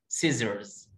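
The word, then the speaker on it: scissors: ها دي اسمها سيزرز، سيزرز الاس الاولى مش هنطقها، سيزرز سيزرز مقص.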